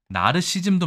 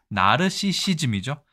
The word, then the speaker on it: 나르시시즘: 같아요 로맨티시스트로 보셔야 되고 나르시즘도 많습니다 나르시즘 아니고 나르시시즘이죠 나르시시즘 이런 것도 상당히 어렵다고